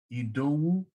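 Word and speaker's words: Idowu: My name is APWU. The I is pronounced like an E, just like in Spanish.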